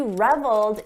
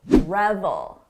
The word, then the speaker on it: revel: We're talking about revel, revel, reveal, revel. Notice the difference in the vowel sound. This is a short sound, revel.